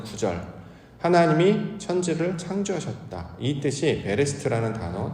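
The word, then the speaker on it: בראשית: 보통 표현을 하죠 창세기 우리가 이제 히브리어로는 창세기를 베레스트라고 발음을 하는데 창세기 1장 1절에 보면 태초에라는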